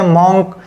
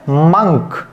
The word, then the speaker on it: monk: अब जो रंग प्रोनाउंसिएशन है वो कहते हैं आपका मॉन्क, बोलते हैं मॉन्क, तो वो गलत होता है। कुछ स्टूडेंट्स हैं वो ये समझते हैं कि वाकई में ओ की मात्रा लगाने से उसको मॉन्क ही पढ़ा जाएगा, लेकिन वो रॉन्ग है। और अब मैं आपको राइट प्रोनाउंसिएशन बता रहा हूँ, तो उसका राइट प्रोनाउंसिएशन है मंक, यानी कि मंक।